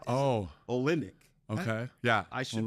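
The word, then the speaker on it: Olynyk: guys are at Gonzaga right and and Kelly Olen olenic is how oh olenic okay yeah I should pronounce his name properly but I guess he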